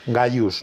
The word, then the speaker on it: Gaius: que dicen que no, que hay que decir Gaius, ¿no?